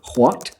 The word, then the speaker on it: what: you will hear that they put the H before the W. So it's what, why, when.